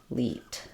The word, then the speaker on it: elite: the I say I this one doesn't follow any of those rules it sounds like e Elite um notice I am